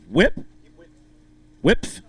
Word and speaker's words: Whipf: Whipf. I got to pronounce that F at the end.